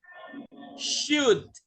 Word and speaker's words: should: Nah, ini should. Jadi L-nya hilang ya. H-O-nya juga hilang. Jadi should.